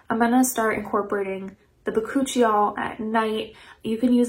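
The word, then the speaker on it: bakuchiol: a while um and it's actually pronounced boccuccio i've talked about this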